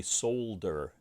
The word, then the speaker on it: solder: Now I can feed the wire through and I can screw it back in, and we will be ready to solder, or as the British say, solder. They also say aluminium.